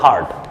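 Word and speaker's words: heard: তাহলে হিয়ার্ড না, উচ্চারণটা হবে হার্ড।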